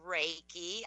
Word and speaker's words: Reiki: is animal am I gonna say this right reiky it is it's actually it's pronounced Reiki I had I I didn't know that being